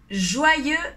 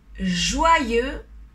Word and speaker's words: joyeux: fin d'année la première joyeux noël joie lieu on ne prononce pas le x joie et celle sony do wah comme le haut et le i oi joint lieu joyeux noël et ses 2